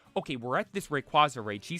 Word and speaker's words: Rayquaza: shiny red quaza I'm like but she said recu didn't she I had never in my life ever heard someone say anything like that when it came to the pronunciation of Rayquaza it was absolutely insane leaves me to end